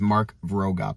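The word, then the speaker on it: Mark Vroegop: I believe his name is Mark Vroegup is how you pronounce his name.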